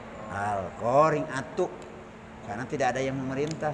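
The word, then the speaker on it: القارعة: Coba baca Al-Qari'ah tapi disambung di wasal. Al-Qari'atu.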